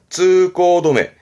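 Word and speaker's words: 通行止め: 그래서 이렇게 쓰면 발음은 쯔꼬도메, 뒤에는 도메예요. 쯔꼬도메.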